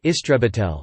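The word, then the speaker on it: истребитель: Exceptions include Russian, where a fighter is an istrebitel, pronounced istrebitel, meaning exterminator, and Hebrew, where it is matos krav, literally battle plane.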